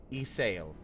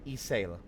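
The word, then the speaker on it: Ysayle: Isail. I keep forgetting that the Y is not, is like, yeah, Isail.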